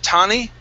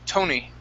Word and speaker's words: Tony: Instead of Tani, Ta, it's Toe. Tony.